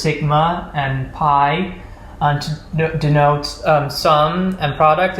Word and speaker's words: pi: the letters sigma and pi to denote sum and product is because sigma is the Greek equivalent of the letter S. I'm probably not pronouncing it properly, and pi, correctly pronounced P in Greek, is the Greek analog